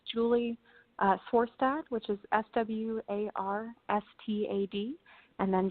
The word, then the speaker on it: Swarstad: It's Swarstad.